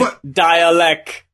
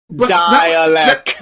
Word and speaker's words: Dälek: Oh, it's Dälek. Dälek. That was messing me up, because I was looking at his name, and I was like, okay, they're saying dialect.